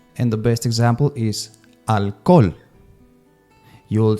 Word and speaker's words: alcohol: the best example is alol you will say that in English alcohol but in Spanish you don't pronounce the h as you can see